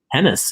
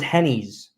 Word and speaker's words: Hennis: Hennis. Hennis rhymes with tennis. See, I always thought it was Hennies.